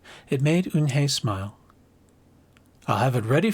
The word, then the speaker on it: Eunhye: Yes, it's pronounced Eunhye. And it means grace, Mr. Kim added. Eunhye, Joey said slowly, and this time perfectly. It made Eunhye smile.